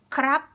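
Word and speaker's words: ครับ: So we do not pronounce the rarua. So instead of saying krap, krap, which is like this way is correct. Krap is correct and formal, but in daily life, like people just say kap kap, kap kap kap kap kap.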